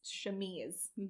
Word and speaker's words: chemise: It says her chemise. Chemise. It's pronounced chemise.